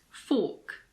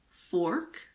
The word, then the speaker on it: fork: In standard British English, as well as in Australian English, the R is silent if it is followed by a consonant or if it's at the end of a word. For example, in this word, fork. In American English, it's fork, but in British English, it's fork.